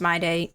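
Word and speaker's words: Mydei: It is pronounced my day. My day.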